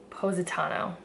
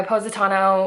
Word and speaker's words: Positano: It's Positano, I think.